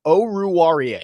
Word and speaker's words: Oruwariye: Oruwariye. That's my best guess. That's what we got. Oh wait, Pro Football Reference actually has a pronunciation guide on here. I didn't know. Oruwariye.